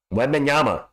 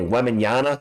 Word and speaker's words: Wembanyama: Are you saying Wemby's name wrong? Wembenyama. Are they put an N at the end, don't they? Wembenyana? Is that what they're saying?